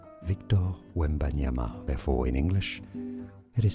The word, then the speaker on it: Wembanyama: It as Victor Wembanyama. Victor Wembanyama. Therefore, in English, it is said as Victor Wembanyama.